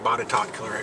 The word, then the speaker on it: Botetourt: So we're Alleghany County, and it's adjacent to Botetourt County. And hopefully I'll get bonus points for pronouncing Botetourt correctly, because I know that's got to be one of the most mispronounced counties in Virginia.